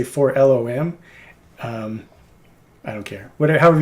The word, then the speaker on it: 4-LOM: number 8 for no this is the way I pronounce this 4-lom you mean for long no I mean 4-lom oh there's kind of a rift in the divide of fandom where half the people say for long and the people that